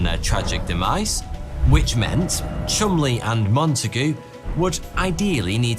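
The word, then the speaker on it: Cholmondeley: without being murdered by Germans Intelligence Officers Charles Chumley yes weirdly that is how you pronounce that and you and Montague were tasked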